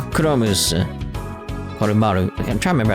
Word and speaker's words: Koromaru: Oh, my bad, Korocha. Kuromu's, Koromaru.